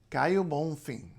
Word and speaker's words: Caio Bonfim: So the O at the end of a word is U. This is absolutely standard in Portuguese. You see it everywhere. The O is U. And N and M at the ends of syllables in any kind of Portuguese become a nasalization. So, Caio Bonfim.